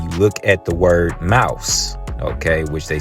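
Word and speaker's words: Maus: before the name of the book is mouse but you know it's not spelled like you know the average mouse they spelled it m-a-u-s right now it's a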